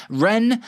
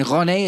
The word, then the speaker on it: Rennes: Chelsea will hold more talks this weekend in the hope of convincing Rennes. I've been saying it wrong. I've been saying Rennes. It's Rennes to sell Jacquet this window.